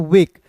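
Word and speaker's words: wake: अंतिम में आया इ तो इसका उच्चारण ए के रूप में करेंगे।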